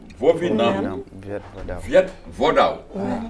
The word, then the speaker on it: Vovinam Viet Vo Dao: alors je répète c'est le Vovinam Viet Vo Dao.